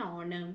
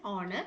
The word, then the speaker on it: honor: Similarly, she received the award with an honor. So honor is again you are pronouncing it as honor not honor.